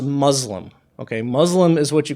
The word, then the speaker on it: Muslim: in the Arabic language the letter that is represented by S here um it never makes the Z sound okay the English s can make the sound s or Z depending on the word that it's in the Arabic letter scene never does that so Muslims we don't